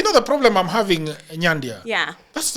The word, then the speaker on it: Nyandia: I mean, there is, you know the problem I'm having, Nyandia. Yeah. That's how it's pronounced, right? Yes, Nyandia.